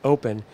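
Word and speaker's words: OPn: for exponential scale but you say it you pronounce it open because it is a programmable open platform that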